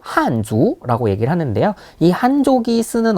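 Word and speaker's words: 汉族: 있는 민족이 바로이 한 한 족입니다 그래서 중국어 발음으로 한주 라고 얘기를 하는데요이 한족이 쓰는 언어다 해서 한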